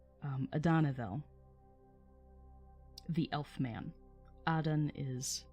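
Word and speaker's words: Adanedhel: therefore many called him adenaville or adanaville my bad emphasis on the wrong syllable um adanaville the elf man adan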